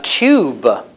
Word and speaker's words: tube: Tube. Tube. How do you say that? Tube. Yes. Well, the older pronunciation is tube. Tia. The usual pronunciation is tube. Tube today.